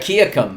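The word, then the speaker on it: Wahkiakum: Wakakiakum. That's it. Yeah, Say it I louder. think you nailed it. Wakakiakum.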